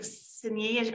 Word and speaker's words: Xin Yi: Yes, I think Sinyi, are you next? Yes, I appreciate you pronouncing my name.